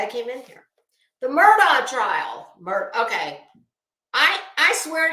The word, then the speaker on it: Murdaugh: from before the trial even started that it's pronounced Murdoch so that's what I'm gonna say Alex Murdock